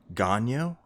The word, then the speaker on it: Gagnon: Gagnon? Yep. We defranchise it as much as possible the further we get from Quebec because basically Western Canada is populated by Francophile rednecks who hate or anti-French rednecks.